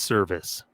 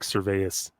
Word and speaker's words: Service: those parallels former Rocky I guess it's pronounced service even though it does look like serveas I guess it is just Service uh former Rocky Scott